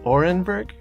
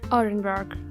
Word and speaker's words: Orenburg: Orenburg it's situated near Kazakhstan okay again the pronunciation is Orenburg Orenburg okay okay good it's that yeah that extent